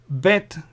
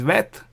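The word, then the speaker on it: ב: If there is no dot, this is vet. If there is a dot, it's bet.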